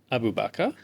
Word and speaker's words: Abu Bakr: How do you say my name? Abu Bakr. Okay, that's a pretty decent pronunciation.